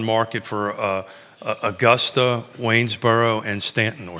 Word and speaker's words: Staunton: the days on market for Augusta, Waynesboro, and Stanton, or Staunton. What's the proper way to say it? I mean, I think you're right. There Stanton. You go. Staunton.